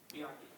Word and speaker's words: Bianchi: Did I pronounce it Bianchi? Bianchi.